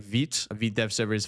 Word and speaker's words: Vite: There's other ones like Vite. A Vite dev server is 5173. And yes, you pronounce it Vite, not Vite. Vite is French.